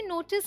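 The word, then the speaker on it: knee: पढ़ते हैं स्कूल और इसे हम कनी नहीं पढ़ते इसे हम पढ़ते हैं नी के तो फालतू में ही रखा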